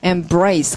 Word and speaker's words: embrace: 발음, embrace. embrace, 강세가 뒤에군요. brace 자체가 팔이라는 뜻이 있는 거.